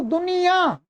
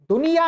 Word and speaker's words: दुनिया: परंतु भाई उच्चारण के अनुसार इसका लेखन करेंगे तो दुनिया, दुनिया नहीं बोलते, दुनिया नहीं बोलते, दुनिया या नहीं बोलते, दुनिया। नासिका से भी उच्चारण होता है, तो जब नासिका से होता है तो या तो ये अनुस्वार आना चाहिए या ये चंद्र बिंदु या अनुनासिक आना चाहिए।